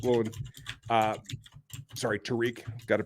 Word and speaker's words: Tariq: They do have a guy who started really hot and was a rookie sensation in Tyreek Woolen. Tariq. Got to pronounce that correctly.